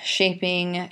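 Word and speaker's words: Scefing: lit alliterative verse okay so how you would pronounce that first line oft Shield shaping shap shap sorry shapen partium so that's off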